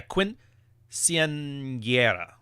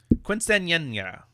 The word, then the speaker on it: quinceañera: I just remember the N with the año on top of it is like a NY. And that's how you say it.